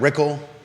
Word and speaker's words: Rickle: an Malik and Brad rickle rhymes with pickle are running in the